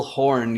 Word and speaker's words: Horne: Today, I'm joined with Phil Horne. You don't pronounce the E at the end because that sounds a little bit lewd, right?